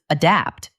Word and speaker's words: adapt: Adapt. The stress is on the second part, adapt.